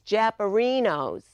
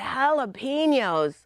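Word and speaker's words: jalapeños: knew you're supposed to pronounce J's like h's not in Boston I went to a Mexican restaurant I'm looking at the menu and I asked the waiter what are these things japos he said they're not japos they're jalapenos oh once again that JH combination so I wanted to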